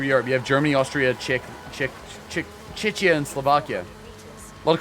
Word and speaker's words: Czechia: Chechia's not Chechnya.